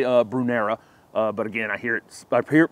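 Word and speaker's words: Brunnera: Next up is a Brunera or a Brunera. I hear this plant pronounced both ways, and I think the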